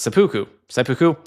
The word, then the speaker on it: seppuku: The samurai had their practice of, I always mispronounce it because I want to say Sudoku, but it's seppuku, right?